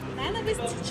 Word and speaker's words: ненависть: випадок чи випадок випадок а слово ненависть а також усі похідні від нього ненависний ненавидіти ненавиджу у літературній мові мають наголос на складі на для наголосу ненависть в